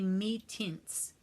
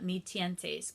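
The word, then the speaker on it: Mi-Teintes: by Kansan it's called I think they say me tints I call it me 10 days because it looks Spanish so that's how I pronounce it it's MI and then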